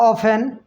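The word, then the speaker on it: often: Of frequency tell how ऑफन, हाउ ऑफन, हाउ ऑफन नहीं, और how frequently N frequently an action is done, an action is done. अब देखिए इसमें हम ऑफेन, T silent रहता है इसमें, ठीक है, ऑफेन, इसको प्रायः ऑफेन।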